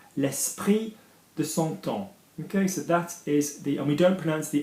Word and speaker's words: temps: E, l'esprit de son temps. Okay, so that is the, and we don't pronounce the M, we don't pronounce the P and the S in temps, which bothers a lot of people.